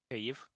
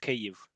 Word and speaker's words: Kyiv: Kyiv. What? You pronounce it Kyiv. There's just no There's sound. no H. Okay. Yeah. And in Kyiv there's no H.